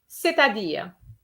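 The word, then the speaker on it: c'est-à-dire: there seta d okay everything is pronounced it's it's in one go the t is linked to the a cetadir that is to say so try that again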